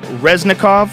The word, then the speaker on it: Resnekov: and Resnekov.